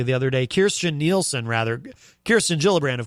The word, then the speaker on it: Kirstjen: Kirstjen Nielsen, rather. Kirsten Gillibrand, of course, is a senator running for president. Kirstjen I almost did it again.